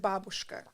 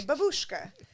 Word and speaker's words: babushka: is in Russian is, I pronounce it babushka because that's the correct way to pronounce it. But you people will say babushka, and it drives me crazy.